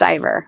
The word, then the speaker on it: Ivor: get his name wrong is it ior yes it's Ivor I call him Lord